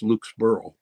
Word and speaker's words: Lukesborough: I believe that was actually pronounced Lukesborough, not Berg, like Edinburgh.